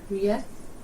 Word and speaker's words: rétt: Yeah, so you're putting in some extra at the beginning.